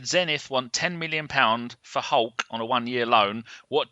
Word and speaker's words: Hulk: And his name's Hulk pronounced. is shit. I don't like Hulk. No, it's Ulke, if you want to say it the Brazilian way, but we'll call him Hulk.